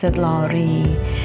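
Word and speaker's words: Brønsted–Lowry: arghanian's theory now is the second figure is pronounced bronsted-lowry and the bronzer glories say the definition of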